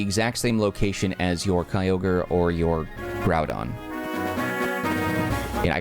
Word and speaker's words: Kyogre: I I say that because I been incorrectly pronouncing those Pokemon for years I always call them uh gudon and kogre which I mean like I don't know like